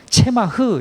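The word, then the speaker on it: צמח: 기름 부은 자 둘은 대제사장과 왕을 뜻하는 이 싹, 그러니까 히브리어는 체마흐 이렇게 발음하는데, 이 싹이라는 것은 메시아를 말하는 것이고, 이 메시아는 두말할 것 없이 대제사장이시며 왕이신 예수 그리스도, 이분이십니다.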